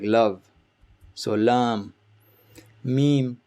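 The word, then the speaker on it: م: Meme, like M in English, meme.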